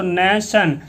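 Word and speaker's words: nation: NA से न, TION क्या होता है, देखो ये जो TION है, TION हो जाता है आपका सन, TION आपका सन बन जाता है, तो नेशन।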